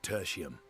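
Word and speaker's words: Tertium: you there which are rendezvous tertiium that's how you pronounce it we'll need to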